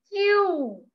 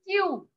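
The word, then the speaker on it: queue: It is called Q. Here you can see 5 alphabets are there. Here you can see 5 alphabets are there, but then also it pronounced only single alphabet. That is Q.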